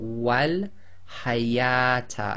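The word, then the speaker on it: وَالْحَيَاةَ: So we've got wal hayata, and notice the waw, which is actually in this case an alif written as a waw, is grayed out.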